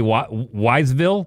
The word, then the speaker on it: Wytheville: go why the Ville so you want to say wiseville say wiseville but skip the Essie part yeah yeah yeah yeah